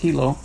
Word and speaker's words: Hilo: yeah they have in Hilo I called it Hyo all week but then I asked a local and they said it's pronounced Hilo but Hilo has some family Beach Parks which